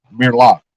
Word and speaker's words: Amir Locke: Not saying I would agree with it, but where people would agree with it is Amir Amir Locke. That's how you pronounce his name.